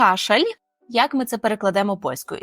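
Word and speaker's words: kaszel: Єдине, ее останній звук він буде не такий, як в українському ль кашаль, а пов'єми кашал. Кашел. Якщо ви добре почули, то л воно наше таке специфічне. Так, це не кашель український, це кашел. Кашел.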